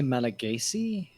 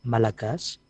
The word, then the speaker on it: Malagasy: differences between is it would you say Malagasy eventually with the Y at the end or is a mostly the correct native pronunciation is malakas yeah but people don't mind if if non-natives pronounce the final Y or as we call